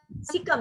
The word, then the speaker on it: cecum: Pronunciation होगा कैकम. सिकम. सिकम.